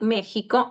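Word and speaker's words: México: Is pronounced H is in some words like Mexico and Texas, and is pronounced S in the beginning of some words, okay?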